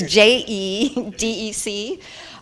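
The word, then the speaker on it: JEDEC: specifications such as a CPI PCIe can you pronounce this JJ deck it's je dec and removing SMM from Intel platforms welcome thank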